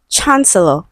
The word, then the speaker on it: chancellor: So option A, we have chancellor. Okay, so we have the ch sound.